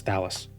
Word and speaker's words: Thalus: Thalus. Not thalis. Thalus rhymes with fallus.